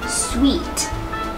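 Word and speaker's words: suite: ว่า ยัง ไง คะ ที่ ถูก ต้อง คือ Sweet sweet เรา ไม่ อ่าน ว่า สู นะ คะ Sweet อ่า Sweet แปล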